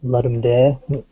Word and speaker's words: Ludum Dare: But the other half of the time, it's usually game jams, particularly the Ludum Dare game jam, or Ludum Dare. Yeah, people like to pronounce the Latin.